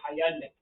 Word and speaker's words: Hyundai: Hyundai is like Sunday."